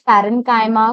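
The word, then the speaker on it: parenchyma: Some students pronounce it like चाइमा बट इट्स पैरेंकाइमा, कोलेंकाइमा एंड the last one इज़ क्लरेंकाइमा।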